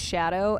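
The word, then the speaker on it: Scadu: Skadoo is pronounced shadow f for what it's worth.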